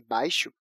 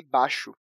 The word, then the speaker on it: baixo: Mesmo que na norma padrão da Língua Portuguesa nós devamos escrever "faixa" e "baixo" com "I", a gente costuma pronunciar apenas "faxa" e "baxo".